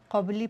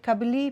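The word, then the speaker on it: काबुली: यह कबली पुलाव भी नहीं है। कुछ लोग कैबली पुलाव जो कहते हैं यह नहीं है। इसको कहते हैं कबली पुलाव।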